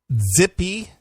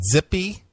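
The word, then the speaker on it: Tzipi: T-Z-I-P-I? Yeah, Zippy. Okay. Livni, L-I-V-N-I. That's a white woman? Well, this is a Israeli minister. A white former Israel. Well, she's Jewish. Okay. Zippy? Zippy, I guess that's how you say it. T-Z-I-P-I. I don't know exactly how to say that.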